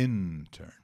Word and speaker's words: intern: áudio intern já Vimos a pronúncia é intern né a sílaba tônica é a primeira e o Felipe não